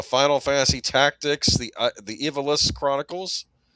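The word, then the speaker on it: Ivalice: Uh, Final Fantasy Tactics, the the Evilis Chronicles. We used to always pronounce it Ivalis, but I think it's Evilis.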